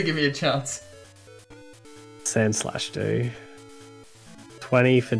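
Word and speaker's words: Sandslash: Alright, so we're going to go a bit more heavy in a Mankey Sand Slash.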